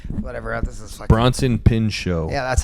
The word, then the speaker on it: Bronson Pinchot: Bronson Pinchot.